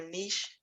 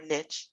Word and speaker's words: niche: veterinarian and find your niche there, or your niche. The niche is the American pronunciation and niche is the French pronunciation.